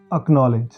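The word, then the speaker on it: acknowledge: और कुछ शब्द हैं ऐसे लॉक, ब्लॉक, एक्नॉलेज, इनमें भी सी साइलेंट है।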